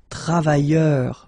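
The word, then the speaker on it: travailleurs: Okay, so you can see that travailleur, you will only need to add this final S here. So phonetically it's the same, travailleur, singular form without the S, and then travailleur, plural form with the S, it's the same.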